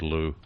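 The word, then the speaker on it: Liu: I'd go with Lou. Yeah, I think that's probably right. With the I is silent, right?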